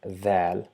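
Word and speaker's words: ذال: So it's the mixture of the and Z to produce the sound Dhal by touching the tip of the tongue along with the tip of the top two incisors.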